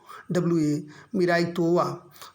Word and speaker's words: Miraitowa: मिरितोवा। अंग्रेजी में देखिए स्पेलिंग है MIRAITOWA, मिराइतोवा।